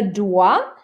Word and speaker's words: doit: Elle me doit $10. Elle me doit $10. So you don't pronounce the T on the end of doit, or the X, or the S.